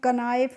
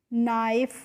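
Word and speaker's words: knife: देखो के एन आई एफ ई तो इसको हम कनाइफ नहीं पढ़ते हैं। इसको हम क्या पढ़ेंगे? नाइफ पढ़ेंगे ना?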